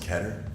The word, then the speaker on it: Keter: Do you still call things Keater?